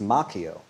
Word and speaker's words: Macchio: Danielson uh played by Ralph Macchio which is actually the Italian way pronounced Macchio but I believe he pronounces it Macho and I'll respect his decision so Jordan let's recap